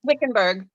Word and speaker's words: Wickenburg: a great question oh andrea she's in uh wickedber arizona i think i said it right double why colorado craft company hmm w-i-c-k-e-m-u-r-g wickenburg like 30 minutes 40 minutes away from me